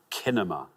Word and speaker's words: cinema: Sometimes you come across very, very intelligent people who say things like kinema instead of cinema.